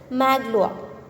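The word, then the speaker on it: Magloire: pronounce it differently and as per the french pronunciation it is maglowa what's the meaning of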